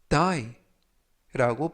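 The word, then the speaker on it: dye: 뜻이 되겠습니다 2번 표현은 die라고 발음하시면 되겠고요 품사는 동사 뜻은 하다라는 뜻을 가지고 있습니다 여기에서 유의하실 점은 가 아니라 DI y 대신에 아를 써서는 다라는 뜻이 되겠고요 그래서이 염색하는 단어와 다라는 단어는 발음이 똑같습니다 그런 것을 동음 이의어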